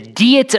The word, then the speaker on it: Diet: U at the the deet of worms which in English is spelled diet of worms but it's it's German again it doesn't make any